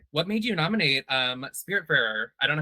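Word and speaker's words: Spiritfarer: Lily, what made you nominate um Spirit Farer? I don't know how to pronounce it, but Okay. Yeah, it's Spirit Fair.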